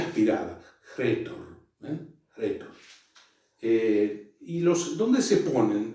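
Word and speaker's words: ῥήτωρ: Y entonces, ¿cómo se pronuncia? Retor, ¿ven? Retor, ¿ven? Como si, precedida por por este espíritu que le da como aspereza a la palabra, retor, ¿ven?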